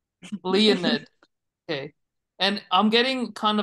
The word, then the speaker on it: Leonid: And you said Leonid, not Leonard. Yes. And that's on purpose or not? That's not just how you say Leonard. That's on purpose. Leonid.